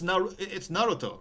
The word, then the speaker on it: Naruto: It's Naruto, right? It's Naruto. Like the syllables are the same length.